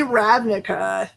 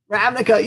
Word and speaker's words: Ravnica: of magic the gathering and this is specifically ravnica is that right how do i say it right it's ravnica is right magic universe it's been so long